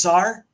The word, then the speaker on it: czar: just r is it it is still just sar that's how you say it is r yeah